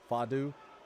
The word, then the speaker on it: Fatu: Dan says my friend gets mad that I pronounce the T in Fatu like a D. Fadu.